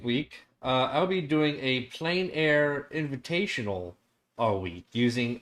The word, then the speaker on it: plein: Let's say you pronounce it right. Plein, Plein.